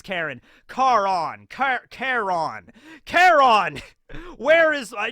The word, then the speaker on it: Charon: Charon. I think it's Charon. I think it's like Charon. It's like a way to pronounce it. Karen. It's Karen.